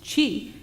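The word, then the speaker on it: 智: The first one, pronounced chi in this case, is made up of 2 components.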